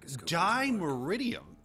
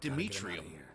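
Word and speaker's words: dimeritium: di meridium bombs lamber he just pronounced it D meridium I was calling it demetrium I can do that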